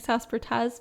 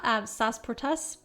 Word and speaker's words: Sasportas: 1986 Howard SAS portaz I've been saying sasportas but I I think it may be pronounced SAS protests anyway he published the 12 houses this was in 1985.